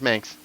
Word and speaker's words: Manx: Meyers Manx rhymes with Spanx.